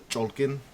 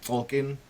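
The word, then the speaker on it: Cholq'ij: So from what I understand the the proper pronunciation of it is called the cholken. I've been calling it Tolken.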